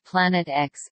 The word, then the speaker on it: Planet X: planet which he named Planet X a name previously used by Gabriel dalit the X in the name represents an unknown and is pronounced as the letter as opposed to the Roman numeral 410 at the time